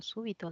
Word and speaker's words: súbito: se ha planificado algo súbito No ya muy bien súbito es una palabra esdrújula quiere decir que la mayor fuerza de voz está en la antepenúltima he tildado súbito por